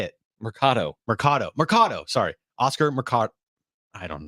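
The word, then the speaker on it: Mercado: stay with us on I seen it up Mardo that's not it say it Marcato Marcato Marcado sorry Oscar Marcado I don't know all all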